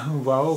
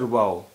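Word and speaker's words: واو: देखिए वाओ का प्रोनंसिएशन उच्चारण तो वाह होता है, और दूसरा इसके कुछ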